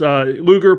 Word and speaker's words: Luger: Luger, pronounced like the old 1990s wrestler, Lex Luger.